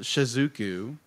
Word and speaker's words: Shizuku: anyway uh go bigger uh so it's uh shizuku am I saying that right yes shizuku um